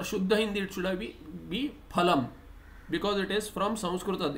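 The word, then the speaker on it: फलम्: So Hindi they'll pronounce as falam. In Sanskrita or Shuddha Hindi it should be phalam, because it is from Sanskrita. In Sanskrita there is no fa sound.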